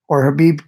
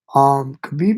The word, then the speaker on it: Khabib: Khabib is or Habib. I keep calling him Khabib. I gotta switch. I'm trying to switch to my pronunciation of Habib, but Habib is really, really amazing, guys.